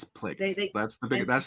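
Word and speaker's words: Plagueis: No, Who has ever said plagius. plagius? It's plagues.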